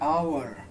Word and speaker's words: hour: H is not a vowel. Vowels are A, E, I, O, U. Here we are having H, O, U, R. But how it is pronounced? It is pronounced as O, U, R. H is silent here.